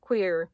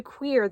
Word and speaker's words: cuir: Now, it's actually pronounced closer to Cuir than it is to Cuir, but it has like a French sound to it, and I can't do that sound.